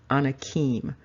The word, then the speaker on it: Anakim: the full name of Anna Kim and the anakims meaning the people and of course another way to pronounce that is the on Hakeem and so you have